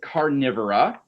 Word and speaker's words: Carnivora: The order is Carnivora, which sounds like the word carnivore.